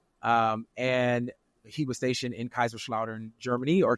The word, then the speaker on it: Kaiserslautern: Yes, I was born in Kaiserslautern, Germany. Yeah, Kaiserslautern. Yeah, Yes. I didn't know how to pronounce that part, but I was like, wait, I never knew that.